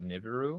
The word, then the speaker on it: Nibiru: We haven't seen each other since you came out with Did you pronounce it Nibberu or Nibiru? I pronounce it Nibberu.